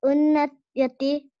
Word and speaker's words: Unnayati: How do you pronounce the Unnayati? Unnayati. Unna, two N. Unna, ya, T.